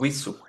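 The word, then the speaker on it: وضوء: উইসু, উই উই উই, নট ভি। উইসু, নট ভি, ভিসু না, ওকে, উইসু।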